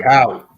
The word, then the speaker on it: cacao: How do you pronounce that, John? Cacao.